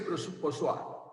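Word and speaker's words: Poiseuille: A ver, yo tuve una alumna que sabe francés y me dijo que esa ley se llama ley de Poisson. Pero aquí se escribe Ponsonby, no sé cómo se escribe. Dice que se dice Poisson.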